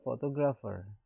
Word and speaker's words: photographer: So if it is photograph, then on the third from the right, and in the case of photographer, on the third from the right.